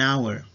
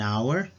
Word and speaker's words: hour: example an honor an hour our owner in this case letter h is mute you don't pronounce letter h so you need to use an an hour an honor when the